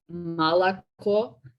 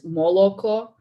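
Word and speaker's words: молоко: Like, I don't know if you guys remember like the milk example, like it in Russian, it's malako, and in Ukrainian, it's moloko, and they're both spelled the same with O's.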